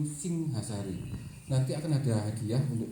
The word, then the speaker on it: Singhasari: Makanya museum kami itu bukan museum Singosari, ini museum Singhasari.